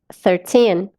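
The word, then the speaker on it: thirteen: Por quê? Essa é a nossa sílaba tônica, tá? Então, essa última sílaba, gente, ela é forte, ela é mais forte, tá? Então, a gente coloca mais entonação nessa última sílaba.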